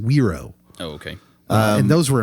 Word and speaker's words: gyro: like Gyros but I was told you're it's pronounced weiro oh okay and those were amazing like Luke